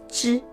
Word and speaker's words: zhi: To produce the three syllables, zhi, chi, shi, we must raise up or roll up the tip of the tongue so as to squeeze out air from making zhi, chi, shi sounds.